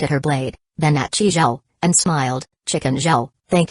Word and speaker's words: Zhao: 7-1, Zhao.